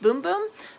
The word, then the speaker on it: Bum Bum: I know it says Bum Bum, but I guess in Portuguese it's pronounced Boom Boom.